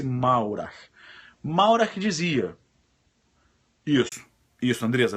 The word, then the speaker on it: Maurach: Se escreve Maurach, com CH no final. Maurach. M-A-U-R-A-C-H. Maurach, com CH no final. Mas fala-se Maurer.